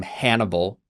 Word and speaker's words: Hannibal: The name Hannibal rhymes with cannibal is associated with that great enemy.